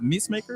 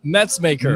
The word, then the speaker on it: Metzmaker: Now, is it Meesmaker? Is that how he pronounces his name? Over at North? Metzmaker. Metzmaker.